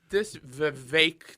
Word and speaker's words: Vivek: This Vivek that rhymes with cake guy.